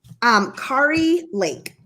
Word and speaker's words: Kari Lake: Kari Lake. Or Carrie, but it's Kari.